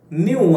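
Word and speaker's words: knew: ಡಿಡ್ ನೋ ಅಂತ ಹೇಳುವ ಬದಲು ನ್ಯೂ ಅಂತೇಳಿ ಹೇಳ್ತೇವೆ. ನ್ಯೂ, ಇಲ್ಲಿ ಕೆ ಅನ್ನು ಉಚ್ಚಾರ ಮಾಡೋದಿಲ್ಲ, ನ್ಯೂ.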